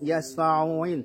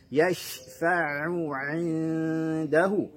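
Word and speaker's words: يَشْفَعُ عِنْدَهُ: Jangan sampai menyeret huruf yasfa'uin tetapi yashfa'u 'indahu. Ya, harus jelas bunyi ainnya.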